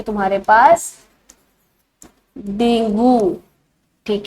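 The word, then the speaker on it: dengue: होती है तुम्हारे पास डेंगू। ठीक है, इसको डेंगे भी बोला जाता है, इसकी जो प्रोनाउंसिएशन होती है एक्चुअल में डेंगे बोला जाता है, डॉक्टर इसको डेंगे बोलते हैं।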